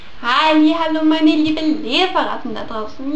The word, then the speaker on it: Hallow: auch enthüllt, dass die Staffel die Gray Man Hallo ausgesprochen wird, aber Halo, also H-A-L-L-O-W geschrieben wird.